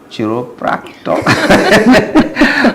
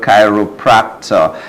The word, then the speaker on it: chiropractor: In fact, when I saw the name, first of all, I was calling it Chiropractic. But that's not how it is pronounced. It is called chiropractor.